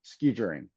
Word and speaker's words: skijoring: It's called, I gotta pronounce it correctly, horse ski joring.